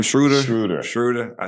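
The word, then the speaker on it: Schröder: is how you say his name schroeder intruder schroeder i said it right i was saying schroeder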